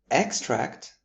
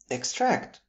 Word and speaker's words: extract: In the noun form where the stress is on the first syllable, we have an extract from a film. For example, we watched an extract from a historical film. Extract with the stress on the second syllable would give us the verb.